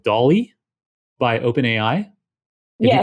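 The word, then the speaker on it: DALL-E: you go to the dolly blog post so this is it's pronounced like salvador dali um but it's spelt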